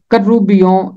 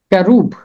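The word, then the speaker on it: כרוב: इसका इब्रानी तलफ़ुज़ है कैरूब, कैरूब, और अरबी और इब्रानी में है कर्रूबी, कर्रूबी, फरिश्ता।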